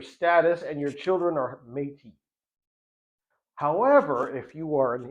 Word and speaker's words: Métis: Canada, you're either non-Indian or non-native, or you're native, or you're something called Métis, which is spelled m e t i s.